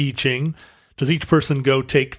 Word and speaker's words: I Ching: and and I'm sorry I mispronounced it as I Ching the E Ching does each person go